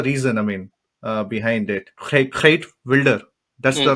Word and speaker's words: Geert Wilders: Geert Wilder. That's the right pronunciation. Geert Wilders, yes.